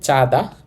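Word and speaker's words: 짜다: উচ্চারণ হবে চাঁদা, চাঁদা মানে নোনতা, নোনতা বা লবণাক্ত।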